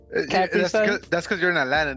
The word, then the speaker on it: Capri Sun: Capri Sun? That's because you're in Atlanta, dude. Capri Sun? Capri Sun. Capri Sun. Capri Sun. Capri. Change your I to an E. Capri Sun.